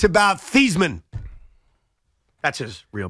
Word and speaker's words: Theismann: Honest audience, which means if you're honest, it's about Thiesman. That's his real pronunciation.